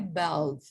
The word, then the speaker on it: bald: La A la pronunciamos como E muy suave, bald.